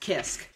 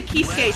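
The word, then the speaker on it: Kiske: I think it's actually pronounced Kisk. Kisk? Yeah. I used to say Kisuke too. But apparently it's pronounced Kisk. Kind of like the Rockstar Michael Kisk.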